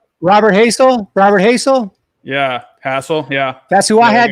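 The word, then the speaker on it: Hassell: length or not Robert Hazell Robert Hazell yeah hassle yeah that's who I had going to the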